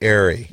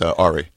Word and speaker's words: Ari: If you say Ari, and you're mispronouncing it actually by accident, it's Ari.